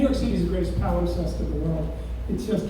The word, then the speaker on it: palimpsest: There's a word that I'm going to mispronounce. Feel free to correct me. Palimpsest.